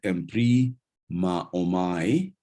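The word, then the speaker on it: ἐμβριμάομαι: So the word emprima omai, you can see that alpha and omicron there is not a diphthong, so we are we're giving them different syllables.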